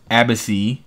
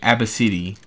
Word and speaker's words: Abcde: young girl's unique name pronounced abbacy oh okay abba city that that's how you say ab a B City Abba City okay the girl's mother